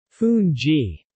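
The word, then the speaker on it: fungee: the national dish is fun G pronounced foon G in pepper fun G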